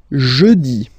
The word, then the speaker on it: jeudi: Next one, jeudi. Jeudi. Remember, when you combine this E-U, you get the sound E.